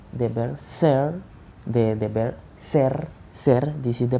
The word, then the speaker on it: ser: and i say the verb ser the verb ser this is the pronunciation in infinity form is the saying that